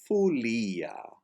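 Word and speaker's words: follia: As is the case with the letter E in a non-accented syllable, the letter O is pronounced like a U in the non-accented syllable. So folia is fulia.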